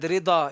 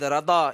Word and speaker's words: Raza: Whether you say Ahmad Rida, it is also correct. You say Ahmad Rada, it is also correct. You say Rida, Rada, Raza, any pronunciation.